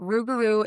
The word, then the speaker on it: Rougarou: There's been a lot of questions about the pronunciation, but Rougarou is It is The Rougarou itself is a cryptid, shapeshifter.